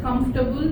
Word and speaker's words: comfortable: just one or two most of us use the word com comfortable but it's like just comfortable just two syllables.